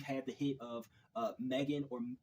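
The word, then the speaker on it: M3GAN: right so we've had the hit of uh Megan or M3 Gan if you want to pronounce it that way that came out last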